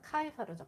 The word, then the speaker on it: 카이사르: 네, 시저가 카이사르죠, 발음이.